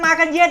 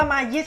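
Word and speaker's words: Magalhães: ครับ รีวิว ครับ กำลัง มา กัน เยด อ่าน นะ ครับ อย่า อ่าน ชื่อ กลับ กัน นะ บาง คน อ่าน ว่า มา เยียด กัน เนี่ย โอ้โห นี้ น่า เกลียด เลย นะ ฮะ ถ้า เอา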